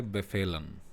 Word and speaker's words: befehlen: और उसका एग्जांपल्स उसके देखेंगे तो वर्ब है ब फेलन वर्ब है ब फेलन बी ई एफ ई